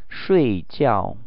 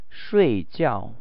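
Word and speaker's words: 睡觉: 睡觉睡觉睡觉. Please pay attention to the tones here. There are 2 falling tones in the same word.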